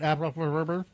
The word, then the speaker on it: Aer: It's it's Aer. Hi. Hello. Isn't Isn't that how you say your last name? It's Aer. Perfect. Yeah. Yeah. Perfect pronunciation.